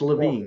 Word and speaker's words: Levine: Actually, it's Levine, but I'm so glad to be here. It's Levine.